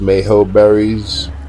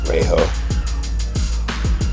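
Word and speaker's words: Mejoberry: I think I really think it's pronounced Mayo berries. You got a Marberry, Mayo, Tinto, Verde. Yeah, I think it's Yeah, I think it's Mayho like Tapihara.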